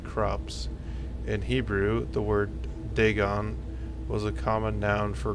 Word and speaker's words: Dagon: Okay, I can actually pronounce it right. Dagon.